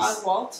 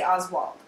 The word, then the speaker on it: Oswalt: He's Oswalt? Oswald. Okay, every time I hear someone say it, they always say Oswald. No, it's I'm pretty sure it's a T. No, it is a T.